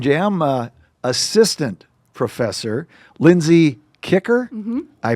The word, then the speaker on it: Kiecker: Again, our guest today on Toast and Jam, uh, assistant professor Lindsay Kicker. I pronounced it right.